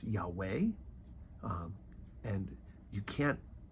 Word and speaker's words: Yahweh: I am right and is often been pronounced Yahweh um and you can't